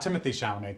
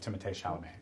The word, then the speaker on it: Timothée Chalamet: Not Timothy Chalamet, Timothée Chalamet. It's pronounced Timothée.